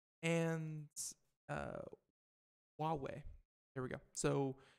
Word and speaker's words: Huawei: away hopefully again I'm saying that right and Huawei there we go so it's pronounced Huawei and because you did not know verizon says